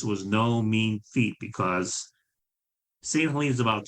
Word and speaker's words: St. Helena: But that's how GLLKA got involved with restoring St. Helena Island Lighthouse. Mm-hmm. Okay. From now on, I'll say St. Helene, the way you pronounce it.